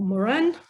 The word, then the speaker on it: Morin: now uh within what edgar morin or moran french pronunciation uh calls a paradigm